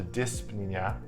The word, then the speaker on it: dyspnea: As opposed to dyspnea, which means shortness of breath. Sounds funny. Dyspnea, shortness of breath. There's a silent P in it.